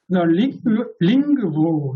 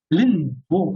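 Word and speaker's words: lingvo: 링그부 이런 것도 니은요, 린부 그러지 않아요. 링그부입니다. 그 니은, 노가 으로 바뀌어요. 링그부. 이것도 위에 있는 그 영향으로 그렇게 됩니다.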